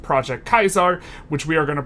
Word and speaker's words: Caesar: sometimes called project Caesar which is per correctly pronounced project Kaiser which we are going to pronounce project teaser